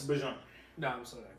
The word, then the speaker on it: Bijan: Bijan Robinson's yards per carry and short yardage is 5.7.